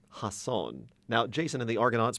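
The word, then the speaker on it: Jasón: However, in this adaptation, you could call it, it's pronounced Hasson. Hasson.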